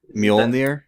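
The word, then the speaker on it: Mjölnir: you say that mu I guess that the J is like a Y Molir That's how you say like Thor's hammer and it's the same pronunciation right Yeah you're probably right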